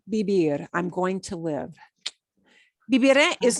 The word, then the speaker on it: viviré: Me imagino que viviré en España.